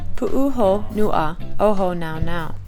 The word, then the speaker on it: Pu'uhonua o Hōnaunau: We pronounce the park name. Pu'uhonua o Hōnaunau.